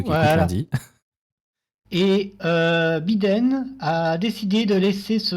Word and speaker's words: Biden: Parce que moi j'ai compris Biden, avec un joli I bien prononcé. Je me suis dit, ah, ok. Désolé, Bid. non, c'est pas Biden, c'est Biden.